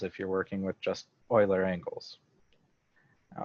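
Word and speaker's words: Euler: angles spelled e e u l e r pronounced Oiler uh and that's very easy for us humans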